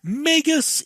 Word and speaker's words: Magus: is spelled m-a-g-u-s now what is the correct pronunciation is it Magus is it may just or is it magus so the majority of